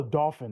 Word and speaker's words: Dauphin: Oh, Dauphin.